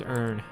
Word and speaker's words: Ern: Well, to be exact, the name Ern is the pronunciation of the letter R in a foreign language that Sigurd was greatly interested in.